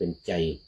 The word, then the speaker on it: ชัย: อื นะ แต่ ว่า ศรัทธา ออก เสียง เป็น ล้าน หนา ก็ คือ เขียน ชัย ก็ จริง อ่ะ แต่ เวลา ออก เสียง จะ เป็น ใจ อื พญา ใจธาตุ บ้าน